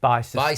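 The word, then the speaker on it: Bicester: If you're in America, it's pronounced Bister Bister.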